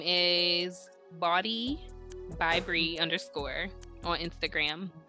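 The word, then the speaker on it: Bawdee: support yes i'm looking to her name is body by bree underscore on instagram bobby spell it because it's it's spelled b a w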